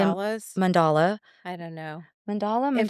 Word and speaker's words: mandala: You say Mandalas? mandala. I don't know. If we said Mandala. that wrong, please don't be mad at We're us. so sorry. It's spelled M-A and it's sounds M-O.